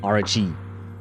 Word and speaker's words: Archie: Say, she pronounces it RG.